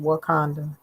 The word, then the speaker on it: Wauconda: So as you can see, this Wakanda is spelled Wauconda. They have various spellings, but they all are pronounced the same, Wakanda.